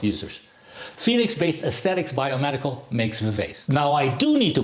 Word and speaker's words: Vivace: I don't know if I pronounced this correctly, but I don't think it's Vivace. So I'll just say Vivace because it rhymes with face.